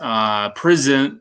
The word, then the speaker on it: Prizm: Prizm, it's Prizm, but spelled with a Z.